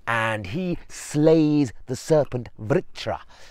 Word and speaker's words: Vritra: he slays the serpent vritra vitra I think it's pronounced but this is a